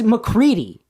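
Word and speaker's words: MacReady: It's McCready.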